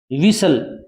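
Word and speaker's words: whistle: इस में सुदाया में इसे क्या बोलोगे आप विसल क्या बोलोगे वि सेल विसल विसल माने होता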